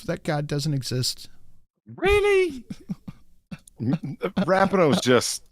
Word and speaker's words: Rapinoe: Rapinoe's just... Rapinoe, that's how you say it.